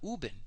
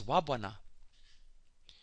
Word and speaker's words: Uben: The word to rise is not Uben, it's Wabwana.